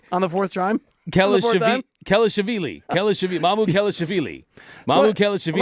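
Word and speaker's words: Mamukelashvili: Mamu Kelishvili. Mamu Kelishvili. Like I was saying, how are we doing? Mamu Kelishvili.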